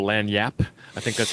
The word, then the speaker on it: lagniappe: And then, see, I'm in Louisiana right now, so I totally understand the concept of what they call lagniappe. I think that's how you pronounce that.